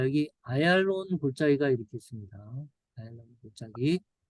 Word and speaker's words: 아얄론: 아얄론, 영어 발음으로 이제 에줄론이죠. 에줄론.